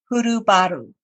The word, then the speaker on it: Hurubaru: I have with me today Laura Hurubaru. Did I pronounce that correctly?